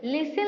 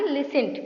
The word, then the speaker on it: listen: तापर ये लिखाई लिसन LISTEN लिसन लिखाई पिला माने सेटा आम लिसन पढ़ुचु सेटा ना कि लिसेंट पढ़ुचु तो टी से साइलेंट अच्छी।